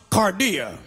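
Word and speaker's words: καρδία: also jesus implored the word heart in the greek is pronounced cardia k-a-r-d-i-a we have an english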